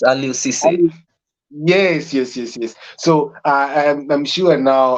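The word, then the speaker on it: Aliou Cissé: I cannot pronounce the other name. Yeah? It's Aliou Cisse.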